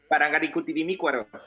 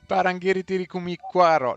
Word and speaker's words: Parangaricutirimícuaro: Parangarikutirimicuaro. Parangarikutirimicuaro. How do you pronounce it, Professor de Español? Parangaricutirimícuaro.